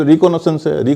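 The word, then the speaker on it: recce: है एक शब्द है जिसको रेकी कहते आरई डबल सीई रेकी का मतलब य होता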